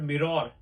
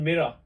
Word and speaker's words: mirror: Next one, this is not mirror. This is mirror. Like this, you need to pronounce it.